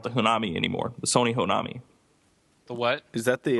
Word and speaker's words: Honami: The Sony Honami. The what? Is that the... Or is it Onami? Onami? I don't know if you pronounce the H, but Honami.